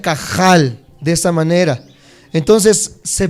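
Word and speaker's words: קהל: Aunque en el hebreo se pronuncia un poco feo la J o la H, se pronuncia como si estuvieras haciendo gárgaras. Se pronuncia cajal de esta manera.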